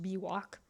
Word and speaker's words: BWOC: by way of contradiction it's often actually pronounced b walk so suppose by way